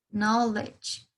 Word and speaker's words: knowledge: nosotros nos encontramos es con una K muda, ¿sí? Es una K que no debe ser pronunciada. Es decir, que ustedes van a pronunciar directamente desde la N, knowledge, ¿sí?